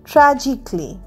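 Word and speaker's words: tragically: টি আর এ জি আই সি এ এল এল ওয়াই ট্রাজিকলি। ট্রাজিকলিরও এ উচ্চারণ হচ্ছে না।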